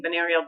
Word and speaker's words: binaural: Binaural.